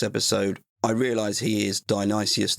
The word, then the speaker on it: Dionysius: You may have heard me call him Dionysius, an easy mistake, but of course it is Dionysius. And on that, in this episode, I realise he is Dionysius I, but I'll just be calling him Dionysius.